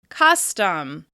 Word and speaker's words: custom: Custom. Can you hear the difference between the stressed and reduced syllable? Custom. Custom. Custom. As you can hear, the first syllable stands out more because it's being stressed.